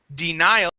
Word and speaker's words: denial: When we change that to a noun, denial, okay, that same accent or stress follows.